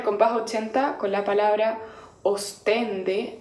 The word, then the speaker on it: ostende: con la palabra ostende la palabra está centrado en la sílaba ctc en pero uno cuando lo va cantando aburrido tiende a centrarla en las ventanas y lava os entonces uno tiende a cantar ostende y lo que